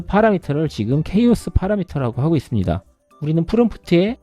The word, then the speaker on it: chaos: 한번 제가 살펴볼게요 자 영어 발음은 케이스지만 흔히 우리는 카오스라는 발음이 더 익숙하시죠 같은 단어입니다 자 한글로 한번 번역을 해서 보여 드려 볼게요 자 이렇게 혼돈이라는 카오스라는 말을 좀 많이 쓰긴 하지만 영어 발음대로 하면 케이스로 일단 발음을 하고 있기 때문에 케이스로 계속 말씀을 드릴게요 자이 케이스의 기능이 무엇일까요